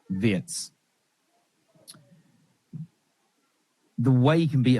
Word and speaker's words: Wirtz: that first half performance from Vertz or Vietz whichever way I I do think it's Vietz. They were saying on the commentary that that's how they say it in Germany vets.